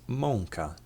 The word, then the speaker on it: mąka: To pronounce this letter, try and say the letter O nasally. On. An example of this letter being used in a word is mąka, which means flour in English.